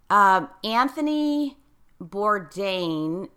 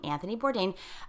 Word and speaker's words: Anthony Bourdain: somehow this was very very significant in that Anthony Bourdain I think that's how you pronounce his name Anthony Bourdain his suicide was so tragic and touched so